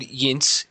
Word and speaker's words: Yinz: making a micro budget film right now called Yinz. I pronounced that right? Yinz.